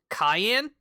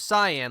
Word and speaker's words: Cyan: We'll have Terra and as a Apparently, we've been told it's pronounced cayenne, like the pepper, instead of cyan, like I had was doing before.